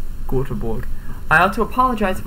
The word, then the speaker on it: Göteborg: Stockholm, and Gothenburg, although I don't think that's how they say it in Swedish. Göteborg.